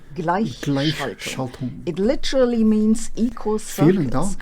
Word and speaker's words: Gleichschaltung: Since you're really just here for the German words, it's pronounced Gleichschaltung. Gleichschaltung.